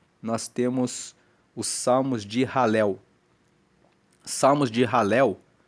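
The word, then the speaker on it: Hallel: Depois, o 113 até o 118, nós temos os salmos de ralel. Salmos de ralel. Ralel se escreve H a L e L.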